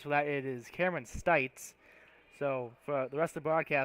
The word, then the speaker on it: Stites: I was made aware that that the entirety of this game I've been pronouncing Stites' last name Cities. I completely misread the roster, so I apologize for that.